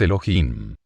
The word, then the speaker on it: Elohim: La H tiene sonido, se pronuncia como J, de manera que su pronunciación exacta es Elohim.